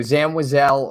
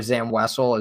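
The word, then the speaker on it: Zam Wesell: at at for me both pronunciations are fine so Zam wazelle or Zam wessell is fine I've just never pronounced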